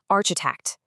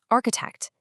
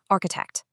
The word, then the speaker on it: architect: The common error is to say architect. Again, incorrectly, architect. But just like before, this should be a hard case sound. So, the correct pronunciation is architect. Let's hear it one more time. Architect.